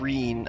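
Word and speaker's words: Ryne: the sound of it i've been saying it wrong this whole time thank you did she say she said reen i thought thank god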